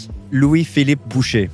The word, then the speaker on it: Louis Philippe Boucher: Can you actually pronounce your full name? Louis Philippe Boucher.